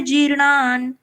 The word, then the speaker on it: जीर्णानि: जैसे वासांसी जीर्णानि, जी दीर्घ है थोड़ा, तो हमने थोड़ा टाइम लेके इसको बोला है।